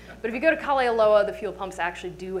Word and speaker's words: Kalaeloa: just two different names i usually say kali loa because i'm so proud that i learned how to pronounce it but if you go to kali aloa the fuel pumps actually